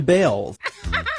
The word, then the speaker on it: Balls: After all, the family did change the pronunciation of their last name from Balls to Bells.